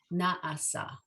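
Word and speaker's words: נעשה: So the ayin is silent, so it's na'a, na'asa.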